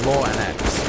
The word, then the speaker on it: lauNX: So yeah, the proper pronunciation is lauNX, but he's pretty easy. He's happy to go for a lauNX or a lauNX or whatever pronunciation you go for.